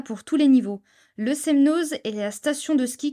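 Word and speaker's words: Semnoz: aillon et la margeria attention on ne prononce jamais le Z pour ne citer que je trouve que pour le coup il y en a pour tous les niveaux le semnose est la station de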